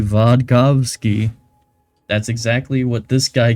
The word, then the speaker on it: Vodkavsky: It's Vodkavsky. It's not hard to say. It's V-O-D. Can you say Vod? Can you say Kov?